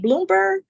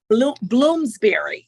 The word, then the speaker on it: Bloomsbury: is published by Bloom is it Bloomberg Bloomsbury Bloomsbury that's it I knew I was mispronouncing it um again the title